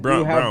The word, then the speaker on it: Braun: Well, it's pronounced Brown, but spelled Braun. Not but LeBron. Braun.